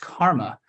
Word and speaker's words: CCRMA: music and Acoustics um it's abbreviated ccrma and it's sometimes pronounced Karma and that's me in